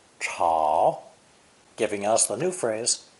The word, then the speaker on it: 吵: This character is pronounced third tone, chao, chao, giving us the new phrase, 吵架.